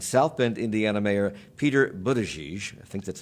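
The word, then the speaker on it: Buttigieg: Julian Castro and South Bend Indiana Mayor Peter Budaj I think that's how you say his name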